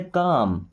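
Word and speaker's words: calm: चाहे तो कॉलम पढ़ते हैं ना बट यहां पे एल साइलेंट है। क्या बोले? काम।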